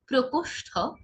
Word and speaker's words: প্রকোষ্ঠ: গ্রাম, প্রভাত, প্রথা সিদ্ধ, প্রকোষ্ঠ, প্রভঞ্জন। দেখুন প্রকোষ্ঠ নয়, কি প্রকোষ্ঠ। একইভাবে প্রভঞ্জন হবে না, কি হবে প্রভঞ্জন।